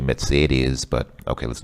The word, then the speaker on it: Mercedes: I want to buy, she says Mercedes, which is obviously a Russian pronunciation. In English, we usually say Mercedes. I think the German pronunciation is actually Mercedes, but okay, let's not get picky.